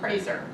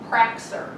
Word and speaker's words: Praser: The C in the Praser right now, I did not grow up with. I grew up with, my name was spelled P-R-A-S-E-R, because my father and my uncle took the C out of their last name. Because when they were in school, their teachers pronounced it Praxer, and they were trying to assimilate, and they wanted it pronounced Praser.